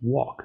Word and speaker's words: walk: En este caso ahí ya es un poquito más complejo porque recuerden que en talk no se pronuncia la l, igual que en walk, ¿cierto?